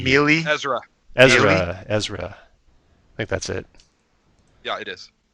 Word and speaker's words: Ezra: Ezra. I think that's it. Yeah, it is. How do you spell that?